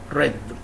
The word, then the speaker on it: read: So as we said, it's past participle, and the verb read, okay, in the present, but in the past and past participle pronounced read.